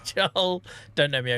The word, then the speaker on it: Joel: Guys, if you are new here, my name is Joel and you will find I don't know why I put two syllables. I never put two syllables in it. Joel, my name's Joel.